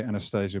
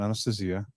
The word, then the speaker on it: Anastasia: of books called Anastasia in English we'd Say Anastasia but it's pronounced in Russian Anastasia yeah well look at